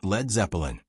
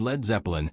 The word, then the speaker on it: Led Zeppelin: Later, manager Peter Grant recommended dropping the A so people wouldn't pronounce it as lead. The name became Led Zeppelin.